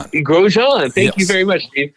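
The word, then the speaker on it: Romain Grosjean: shows two Chevy drivers, and I'm going to butcher their names here. Augustine Kandumpino and Roma Grashi. He's a French guy. Roman Grojan. Grojan.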